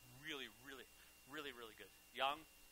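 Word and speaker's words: 羊: Yang. That's how they say it in Chinese and Korean.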